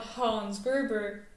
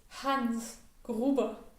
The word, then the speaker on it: Hans Gruber: throughout the entire movie much like hans gruber is not hans gerber it's hans gruber born after heinrich is